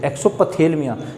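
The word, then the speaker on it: exophthalmia: Second number आता है ये एक्सोथेलमिया, देखना स्पेलिंग EXOPTHA, एक्सोपथेलमिया। क्या बोलेंगे, इसमें पी साइलेंट रहेगा।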